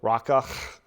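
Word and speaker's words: Raca: sister and call them Raka, or a fool. And really, if I'm going to pronounce it more accurately, there's a guttural at the end of it. Raka.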